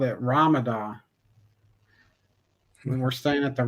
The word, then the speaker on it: Ramada: and she called it Ramadan. We were staying at the Ramadan Hotel, and it's the Ramada, but she was pronouncing it Ramadan.